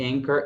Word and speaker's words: anchor: O C, e anchor, it's H, e a palavra âncora, o H. Então é comum essa sequência CH, né, que é esse som de K, né?